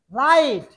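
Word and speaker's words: light: যদি কোনো ওয়ার্ডে আই, জি, এইচ এই তিনটা একসাথে থাকে, তাহলে এই তিনটা মিলে উচ্চারণ হবে আই।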